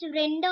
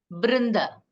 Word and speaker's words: वृंद: Is it pronounced as Vrinda or Brinda? Brinda. Br. Brinda. It is Brinda, not Br.